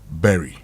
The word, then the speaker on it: bury: Berry. Berry. Now it's important because berry like strawberry. Yes. Because normally Barry No, it's not Barry.